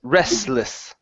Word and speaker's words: restless: um this word here the t is silent so it's Restless Okay so Restless Restless